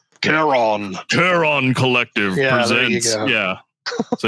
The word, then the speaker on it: Charon: picking that you're fine I just have to remember Kon Collective not not Collective colletive yeah you gotta say it like a like a Norse god Kon Kon Collective presents yeah